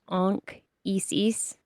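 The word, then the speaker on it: Anchises: His name Anchesis if you pronounce it correctly is probably anis like ank like an Isis almost Ankis.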